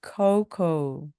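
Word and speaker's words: cocoa: 코코 코코입니다 나나는 코코아로 마실래요 하면은요 I drink coco 또는 coco Please 하고 말씀하시면 됩니다 외국에 여행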